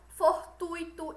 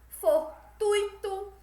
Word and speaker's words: fortuito: gratuito fortuito e fluido o acento tônico está no ruim e não rir ou seja como a gente já viu o certo é pronunciar gratuito fortuito e fluindo e não e como se fosse gratuito fortu Ito e fluido certo o que o